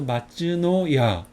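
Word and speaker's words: 松のや: 뭐라고 했죠 소나무송 이거는 노 이거는 야 그래서 마츠노야 이거 아까 저번 당에서 배웠죠 소나무송 이거는 집모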